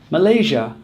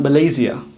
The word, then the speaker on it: Malaysia: Same is true for Russia, Malaysia, or Indonesia. Not Russia, not Indonesia, and not Malaysia.